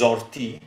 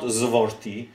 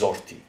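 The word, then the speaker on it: զորդի: So although it is vorti when it is the first letter, when there is a consonant in front of it, it is pronounced o and not vo. So it is zorti.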